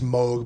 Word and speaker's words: Moog: how you pronounce it technically it's mold but everyone says everyone says well Mook sounds better than mode you know yeah that